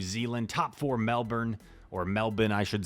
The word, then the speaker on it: Melbourne: way from New Zealand top four Melbourne or Melbourne I should say is like how they pronounce it in uh 2022 and here we